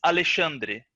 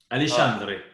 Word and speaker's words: Alexandre: But the way we say my name in Brazil is very hard for people from other languages to replicate. Is Alexandre. Alexandre.